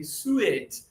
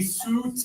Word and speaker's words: suit: And but why do we have a U and an I? I don't know why English does this. Another word similar is fruit. Right. It's not fruitt, right? But a lot of students when they read letter for letter, they say sew it. I don't want to get any fruit on my sew it. No. Right. It would be suit and fruit.